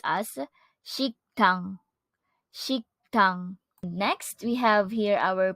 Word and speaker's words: 식당: our place noun restaurant which in Korean is pronounced as shiktang next we have here our place noun restaurant